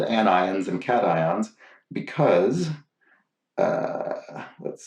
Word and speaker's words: anion: know to be called anions and cations because uh let's see here hugh crank says chris please read anion is not pronounced like onion as i pronounced it ambien it's pronounced an